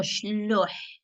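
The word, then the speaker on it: Chleuh: شلوح أحواش شلوح شلوح the H you pronounce it with the ha. If you can don't forget that some syllabs in Arabic that are not or in Arabic Amazigh that are not used in the Western so the H is pronounced the H in the end is pronounced as ha ha ha ha Ha.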